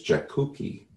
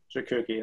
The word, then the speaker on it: Jakucki: And his last name is Jakucki. Jakucki, that one's a bit easier.